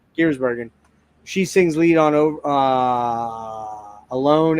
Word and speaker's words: Giersbergen: Giersbergen.